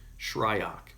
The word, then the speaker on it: Shryock: Fletcher Shryock I go make sure I pronounce his name like Fletcher ryuk and Fletcher I've worked